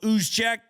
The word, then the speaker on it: Juszczyk: Fullback, Kyle Juszczyk. Spelled with a J. Sounds like a ooze, though.